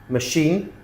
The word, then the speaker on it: machine: So they're spelled ch, but we pronounce them sh. Okay? Chef, chalet, machine, brochure, parachute, chaperone, chandelier, crochet, quiche.